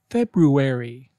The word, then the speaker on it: February: started word number one February make sure you pronounced both R's February example Jill's birthday is in February word number two say